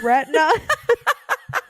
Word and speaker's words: Retna: But there is an artist, like a musical artist, and his name is Retina. Is it spelled like the right way?